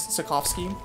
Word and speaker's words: Sapkowski: Sapkowski.